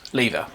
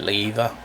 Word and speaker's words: Lieva: Right, this is the new Rexy Mix lever. Now, some people pronounce it lever. It's L E I V A, I think, spelled. But um most of the people on YouTube are pronouncing it as lever.